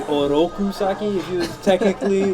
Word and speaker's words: Oroku Saki: it was on point the way he pronounces his RS were're not wasn't right he was say oroku saki it should be oroku saki if he was technically